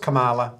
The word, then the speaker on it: Kamala: Kamala or kaminga I is it pronounced Kamala it's got to be pronounced Kamala right come on Kamala Jesus